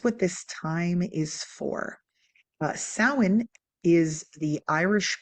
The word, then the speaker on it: Samhain: The letters do not necessarily represent what we think they represent. So you're going to say Samhain, okay?